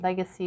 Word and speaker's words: LGCY: Okay, guys, so just to wrap that up a little bit, the company's name was Legacy, but it's spelled LGCY Power, Legacy Power.